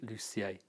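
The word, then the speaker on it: Lussier: to know how Natalie lucier is spell her last name is Lu SS IE are pronounced in French way but if you can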